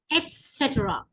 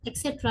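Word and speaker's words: et cetera: ஸோ இது வந்து இங்கிலீஷ்ல வந்து நிறைய பேர் எக்ஸெட்ரா என்றுவாங்க. So that is wrong. It's நாட் எக்ஸெட்ரா, இட்ஸ் எட்ஸெட்ரா. That's the correct word.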